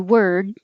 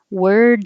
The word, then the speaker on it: word: tree true through word this is the same as wer with a d and you won't hear it by by itself like i learned a new word no d but if there's a vowel after it word of the day you'll hear it world is the same